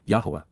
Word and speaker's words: Yahowah: of expressing condemnation and showing what was wrong, Yahowah, Yahowah, the proper pronunciation of the name of Eloah, God as directed in his Torah, teaching.